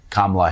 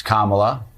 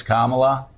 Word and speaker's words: Kamala: when they know better it's Kamala I will talk to Republicans that will say Trump Republicans that will say cumala what that's interesting now why do you mispronounce her name when you know it's Kamala make it seem like